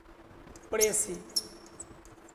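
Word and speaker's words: précis: है और उसके बाद प्रेसी परसी पढ़ेंगे इसको परेस नहीं एस साइलेंट है क्या साइलेंट है एस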